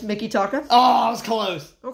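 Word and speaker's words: Mikitaka: five ah okay what about Mickey taka it's Mickey taka oh I was close OH Close oh wait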